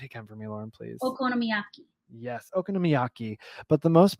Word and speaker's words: okonomiyaki: my best shot I was drawn to the okon namaki okaki yeah say it okonomiyaki okonomiyaki uh and which one I have the